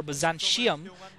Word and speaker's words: Byzantium: This is going to be on Byzantium, which is the pronunciation that I prefer for this map, although some people prefer Byzantium. But to me, I don't like really those T's turning into SHs.